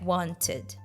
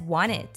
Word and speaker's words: wanted: like wanted she says wanted if there is a combination of letters n followed by a vowel sound and the stress falls on the syllable before n then we can drop the T sound there are such common